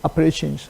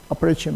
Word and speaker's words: Appalachian: the, okay, south central Appalachian Mountains. Its pronunciation is Appalachian, okay, Appalachian, okay, Appalachian.